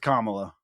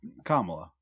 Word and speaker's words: Kamala: It's Kamala. Kamala. know if you guys are right. I'm right. I know that one. It's Kamala. It's Kamala.